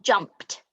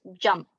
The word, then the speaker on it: jumped: It's not jumped, it's jumped. Or watched, played, listened. So jumped has a t sound on it and at the end, and watched has a t sound, but it's actually spelt with an ed.